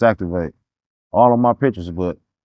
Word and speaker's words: Zactv8: I never even thought about what my name would be, but I always written my name as ZAC TV8 for some reason. It's Activate all of my pictures, but I never even thought about that to be my tag name.